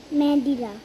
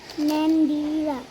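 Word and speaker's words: Mandira: কি হলো ম্যাডি আর এ রা কি হয় মেডিরা তাহলে এটা কি ভালো করে এবার বাংলায় উচ্চারণ করে কি হয় উচ্চারণটা মন্দিরা মন্দিরা মন্দিরা এইভাবে ভেঙে ভেঙে উচ্চারণ করতে হবে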